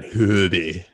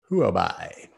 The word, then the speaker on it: Huobi: Not me, because I don't trade on Hoodie. Is that how you pronounce it? Hoodie? Is it Huobi? Huobi.